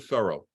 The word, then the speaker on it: Thoreau: of the word Furrow his name rhymes with furrow thorough rhymes with Furrow this is going to